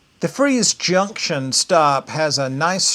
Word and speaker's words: Fries: It's uh pronounced freeze, but it's spelled like fries.